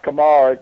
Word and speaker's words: Komarek: I say it's pronounced Komarek, but it's a Czech name.